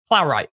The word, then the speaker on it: Plow: SI podcast as well how do you pronounce your last name by the way plow plow I did say it right okay make it sure make it sure I didn't know if it was right or plow right I you got it